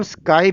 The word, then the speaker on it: SKI: कि service quality index, जिसको हम स्काई भी बोलते हैं, SKI, यानी कि हम इसको प्रोनाउंस कर सकते हैं SKY, यानी कि स्काई भी प्रोनाउंस किया जाता है कई बार।